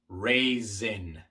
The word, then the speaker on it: raisin: Raisin, raisin. La S es sonora.